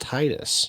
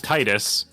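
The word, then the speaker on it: Tidus: you get the ending the secret ending um tetus comes back and he tells you that it's pronounced Titus oh and he's under the truck no no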